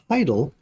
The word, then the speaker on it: hadal: And Hadal, I'll have to look up that word. Neat. Just did a quick research thing. It's pronounced Hydal, and it's even deeper than Abyssal.